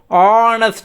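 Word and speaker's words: honest: நம்ம ஆனஸ்ட் அப்படிமோ. அதே மாதிரி ஹவரை HOUR, ஹவரை அவர் அப்படிமோ. நம்ம ப்ரொனவுன்ஸ் பண்ணும்போது அவர், ஆனஸ்ட் அப்படிமோ.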